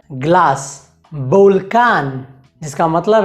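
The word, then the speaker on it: volcán: अगला नियम यह है कि स्पेनिश में उ बे या वे का उच्चारण बे जैसा होता है, बे बे।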